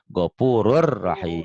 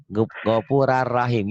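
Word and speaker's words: غفور رحيم: Gopura rahim gitu memang ya. Padahal harus ada O-nya ya, seperti ada O-nya, Gopurur rahim.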